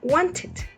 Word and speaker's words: wanted: Entonces las terminaciones de la ed van a pronunciarse como están escritas. Es el único caso que se pronuncia como está escrita. Entonces, want quedaría wanted, need quedaría needed y paint quedaría painted.